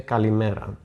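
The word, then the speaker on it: καλημέρα: To say good morning, you say kalimera, which literally means good day.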